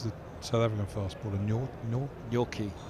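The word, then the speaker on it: Nortje: the south african fastball nor your key your keys which looks nothing like it sounds it's true a t sounds like a k i've actually been doing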